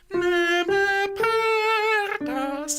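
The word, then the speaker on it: ne me perdas: So first of all, neme pedas. If you can roll your R's, that'd be lovely.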